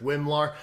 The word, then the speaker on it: WMLAR: I'm glad I know how to pronounce that because I was like, WL, that's a little too long. So, it's great that you have a simple way of saying that.